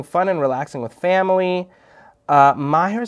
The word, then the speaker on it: Maher: Assalamu alaikum, Maher. Are you Maher like Maher Zain? No? Is it a different, how do you say your name? Like Maher Zain.